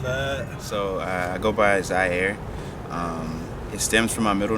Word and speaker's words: Zai: So I go by Zaire. It stems from my middle name. This middle name is spelled Z-I-E-R-E, Zaire. This artist name is Zai, Z-A-I, Air.